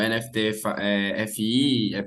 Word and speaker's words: NFTfi: O pessoal pronuncia NFTFi ou NFT FI, FY. Então, existem várias pronúncias. Mas internamente a gente fala NFTFi.